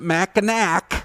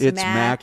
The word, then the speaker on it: Mackinac: Don't pronounce it Mackinac. No, it's Mackinac.